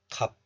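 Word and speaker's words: 값: This letter is pronounced as kap in isolation. Kap. The sound of siot, s, is hidden. But look at this example. This kap is followed by a vowel of the next letter. So the hidden siot moves to the next letter, and this e becomes si. It is tensified somehow. So this is pronounced as kapsia.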